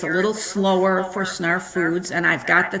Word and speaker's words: Snarf: And I always, because it's Snarf rhymes with ARF, and I go, no, but they do like it.